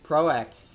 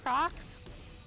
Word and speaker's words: Prox: Oh, Pro X. Pro X might mean, be interesting. You mean Prox? Huh? You mean Prox? Oh, Prox. Yeah. His name's pronounced Prox.